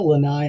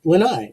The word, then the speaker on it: lanai: perfect uh wednesday featured creature it was a lanai which is those caretaker dudes who took care of luke skywalker's mess on that island isn't the lanai also like a porch or a like a